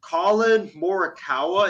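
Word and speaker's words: Collin Morikawa: with this guy from the bay area uh colin moricawa is that's his name that is how you pronounce his name uh i believe he's won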